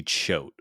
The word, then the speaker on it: Choate: And then my final stat was he may not be the Loogie GOAT, but his name at least rhymes with it. Oh, that's good. Randy Choate, the Loogie GOAT.